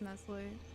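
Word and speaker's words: Nestlé: guys are going in I watched the pronunciation video it's Nestle what a [ __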